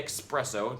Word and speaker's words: espresso: that there should be no K sound in espresso. Of course, if you prefer to say espresso, if that's how you were taught the word, and if that's the way you pronounce it, fine. That's not a problem. But I say espresso just like I say especially.